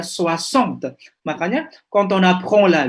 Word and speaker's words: soixante: Memang ya kalau lihat tulisannya akan salah ya mengejanya, tulisannya bacanya gimana tadi ini no, soissons. Tapi tanpa melihat tulisannya tadi sudah tahu ya soixante.